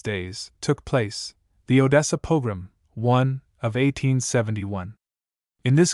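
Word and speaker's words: pogrom: Footnote one, pilgrim, with the accent on the last syllable signifies ruin, devastation, and was originally applied to the ravages of an invading army.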